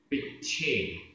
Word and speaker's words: पिच्छे: पिच्छे, पिच्छे आधा च छ, पिच्छे।